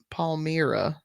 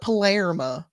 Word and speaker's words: Palmyra: Palmyra. Sorry. I want to call it Palermo, and I don't know why. Palmyra Island.